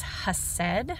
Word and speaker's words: hesed: So when we talk about loving kindness, that word is hesed, I believe is how you say it.